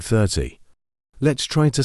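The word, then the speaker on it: thirty: at the word 30 this word also has two syllables 30 we stress the first syllable it sounds like 30 let's try to say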